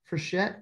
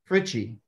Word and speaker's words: Frichette: Okay, we're missing Representative Frichette. I can't even say his name. How do you say his name, John? Fritchie.